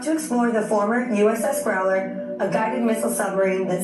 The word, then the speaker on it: Growler: Welcome to Glorer. That's how you pronounce it? How you pronounce it? Glorer? Growler. Growler.